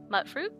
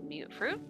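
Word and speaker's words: mutfruit: mutated sure you know mut fruit or mute fruit depending on how you say it um I usually do mute fruit cuz I see it as mutated fruit um you know fever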